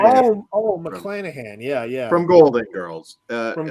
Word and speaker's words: McClanahan: She played Rue McCallahan, right? That's how you say it. McClanahan.